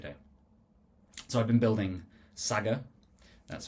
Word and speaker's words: Saggar: So, I've been building Saga. That's how it's pronounced.